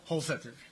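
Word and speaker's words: Holsether: I could imagine it with a hard T or a TH sound. Help us. Holsetter. Holsetter, okay.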